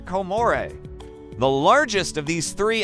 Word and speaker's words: Comoros: And while it's spelled like this, the locals pronounce it something closer to Comore.